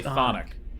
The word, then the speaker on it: chthonic: You don't pronounce the CH at all. You just say thonic.